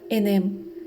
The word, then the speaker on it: inim: para la palabra verbo es inim que se pronunciaba enem de esta palabra se